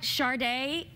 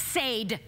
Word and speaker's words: Sade: knows what you know like Sharda it's Sade you know have you it's not Sharda spell it correctly I'm